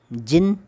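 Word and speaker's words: djinn: हाउ डिड द जिन यह दी है यह साइलेंट होगा जिन यह चिन्ह है कि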